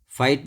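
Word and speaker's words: fight: फाइट में भी GH silent है।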